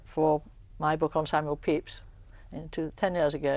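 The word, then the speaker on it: Pepys: uh who was Samuel peeps Samuel Peeps and it's spelled PE p y yes and some of his um the descendants of his family he he had no direct descendence call it Pepes but we know it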